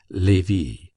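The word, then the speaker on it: Lévis: There were in Madame Dati's salon some very noble ladies named Metha Noa Levy, L E V I S, which was pronounced Levy, Kambes, C A M B I S, pronounced Kambes.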